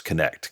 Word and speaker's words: Knecht: so I always explain it's very simple it's simply like connect the dots connect connect the dots and